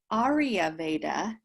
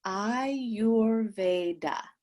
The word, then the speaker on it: Ayurveda: i want to say it's based on two words i your and veda and it's not arya veda it's i your veda that is the proper pronunciation of ayurveda i don't know where um i hear so many people say arya veda and i'm not sure where that came from it's been very popular